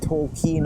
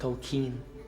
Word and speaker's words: Tolkien: Before that, I want to show you this wonderful bookmark with TolkEin on it. TolkEin. It's keen, sir. What? It's pronounced Tolkien. Here we go.